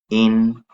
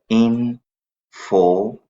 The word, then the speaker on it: information: This word is not information. This is information, meaning that R will remain silent.